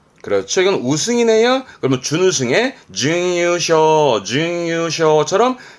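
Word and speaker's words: 優勝: 엔 특히 그렇습니다만 그렇죠 아시겠죠 결이네 그럼 결승입니다 발음은 케쇼 케쇼 그렇죠 이건 우승이네 그러 준우승에 유쇼 쇼처럼 세 글자로도 특히 앤투 때는 많이 보여지기도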